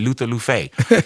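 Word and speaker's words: Luffeigh: well what's your name i said luther luffey and they said well how do you spell lou fey and i'm like l-u-f-f-e-i-g-h the first f is silent you know what you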